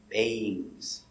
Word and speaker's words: bangs: mmm bang bangs bangs remember you have a ng combination always pronounced with your long a bangs things she has bangs